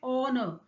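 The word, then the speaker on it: honour: देखिए, यहाँ पे एच जो है वो साइलेंट है। जब आप प्रोनाउंस करते हैं तो साउंड प्रोड्यूस होता है ऑनर।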